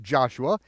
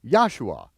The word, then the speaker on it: Joshua: So, anytime you see the letter J in your King James version of the Bible, pronounce it as a Y and you'll be very close.